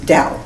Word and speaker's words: Tao: dating back over 3000 years and Dao is pronounced Dao d-o-w taoism is t-a-o-i-s-m you know but it's